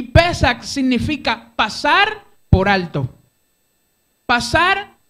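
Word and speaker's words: פסח: La palabra Pascua es una palabra que en hebreo se pronuncia Pesach. Y Pesach significa pasar por alto.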